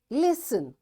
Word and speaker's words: listen: what these words are listen fasten castle orphan whistle soften hasten bustle and gourmet in all these words letter t is silent so in this way